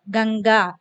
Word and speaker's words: गंगा: सो अनुस्वार is pronounced as इंग, गंगा.